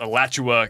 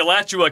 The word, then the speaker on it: Alachua: middle of US 441 in I think it's pronounced Alachua County, Florida.